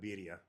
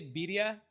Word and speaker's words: birria: fun of for saying birria. Birria? They make fun of me. Yeah, they spell it Beedia birria because I don't know how to roll my R's right or something like that.